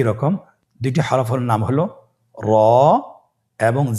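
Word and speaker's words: ر: 2টি হরফের নাম হলো র এবং জা। র এবং জা। র হরফটি এখানে আমরা পোর করে উচ্চারণ করব, মোটা করে উচ্চারণ করব, এবং র হরফটি একালিফ টেনে পড়ব।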